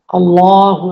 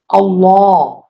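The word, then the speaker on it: الله: আল্লাহ। আল্লাহ। আল্লাহর যে লাম আছে এইযেলাম। যে লামটা দেখতে পাচ্ছেন এইযে আমি যেটাকে সীমাবদ্ধ করেছি। এই আল্লাহর লামটা মোটা হবে। আল্লাহ এভাবে হবে।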